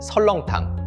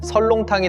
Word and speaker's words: 설렁탕: 시간이 흐르며 발음이 달라졌습니다. 선농탕은 설렁탕이 되고 설렁탕은 다시 설렁탕이 되었습니다. 문헌에 설렁탕이 본격 등장한 건 1924년이었습니다.